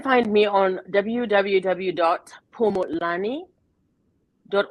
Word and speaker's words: Phumulani: you they can find me on www dot pomo lani dot o rg and pomelani is spelled p like paul h-u-m-u-l-a-n-i dot o-r-g and